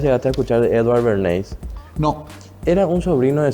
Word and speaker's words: Bernays: austriaco, Bernate se escribe. no, con Y-S al final, Bernays.